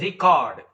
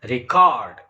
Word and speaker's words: record: word uh record and the word record the same spelling you know if it is a noun the first syllable re is stressed but if it is a verb then the second syllable is stressed and same is the